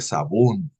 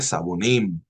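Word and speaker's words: 사범: going to say well it is said sabú it is not said sabonim the title is not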